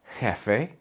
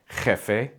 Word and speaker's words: jefe: Both are correct, but here in the United States, the overwhelming majority of the time, you'll hear that softer, chill J. Some words that use J are jefe, joven, trabajar, jamón.